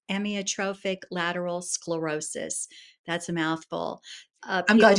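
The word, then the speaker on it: amyotrophic lateral sclerosis: And the actual pronunciation is emotrophic lateral sclerosis.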